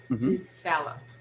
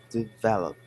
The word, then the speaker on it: develop: pronunciation of that word develop good the stress is on the second syllable okay develop develop good we develop our